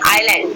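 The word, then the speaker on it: island: देखिए यहाँ पे क्या हुआ, एस से पहले क्या है? आई आया तो एस आपका साइलेंट रहेगा, तो इसको हम क्या पढ़ेंगे? आइलैंड, ठीक।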